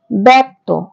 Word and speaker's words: ব্যক্ত: নির্ণচারটা হলন্ত তো বয় জফালা কয় তত এর উচ্চারণ হবে ব্যক্ত অর্থাৎ ব্যক্ত শব্দটির প্রথম বর্ণ হচ্ছে ব এবং